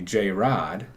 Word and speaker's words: Jarod: So, if you like to be called and it pronounced Jarod, then you have the correct spelling, Jared. Thank you. Right? But if you like when people call you J-Rod, then I have the right spelling.